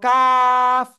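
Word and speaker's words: ق: করবো ওকে সবাই বলেন জিহ্বার গোড়া থেকে একটু আগে বাড়িয়া তার বরাবর উপরে তালুর সাথে তার বরাবর উপরে তালুর সাথে লাগিয়ে মধ্যখান পেঁচানো কাফ চিকুন আওয়াজে চার আলিফটা নিয়ে উচ্চারণ করতে হবে কি আওয়াজে চিকুন আওয়াজে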